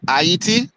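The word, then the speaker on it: Ayiti: Can we say IET? IET. IET. IET. 3 syllables.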